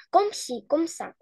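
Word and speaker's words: comme ci comme ça: ко Угу только смотри Ком си видишь вот это э у нас не читается вообще Комси комса Комси комса дальше тре мал вот маль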